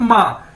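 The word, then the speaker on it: 吗: जिस तरह हम अपनी माँ को कहते हैं माँ, तो सेम इसकी प्रोनाउंसिएशन ये है MA, माँ।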